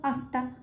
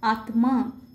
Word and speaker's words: আত্মা: আমরা এটাকে কি বলবো আত্মা কারণ এখানে ম এর উচ্চারণ বাংলার ক্ষেত্রে আমরা করি না কিন্তু সংস্কৃত ভাষার ক্ষেত্রে সংযুক্ত বর্ণের প্রত্যেকটি বর্ণের উচ্চারণ হবে যেমন এখানে আয় ময় আকার আছে তাহলে হবে আত্মা বাগ্মি রশ্মি এখানে দেখো